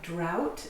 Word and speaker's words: drought: In very common words, often the GH is silent. Let's look at them. So a drought is when there is not enough rain or water.